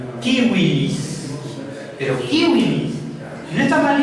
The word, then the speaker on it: Civilis: Y punto número 2, la letra V no es B chica, sino V, se pronuncia como una U. Entonces es Corpus Juris Civilis.